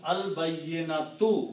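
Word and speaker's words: البينة: In the pronunciation, you don't pronounce ta marbuta when you stop. You pronounce a ha.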